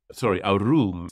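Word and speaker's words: ערום: And that is normally pronounced arum is the second one.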